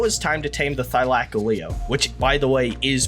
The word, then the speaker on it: Thylacoleo: Now it was time to tame the Thylacoleo, which, by the way, is pronounced Thylacoleo.